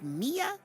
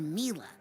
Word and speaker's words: Mila: caviar is it pronounced mia or mila well it's short for camila you know but when i first